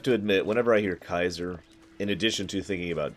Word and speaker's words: Caesar: equip yet yes I know what should be pronounced Kaiser and I hate that name and I tend to associate that more with German rather than three so I'm gonna keep calling him Caesar if that's gonna go with you no it's